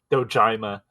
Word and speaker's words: Dojima: it's it a I I should have pronounced I dojima dojima dojima the dragon of dojima no real real bad uhon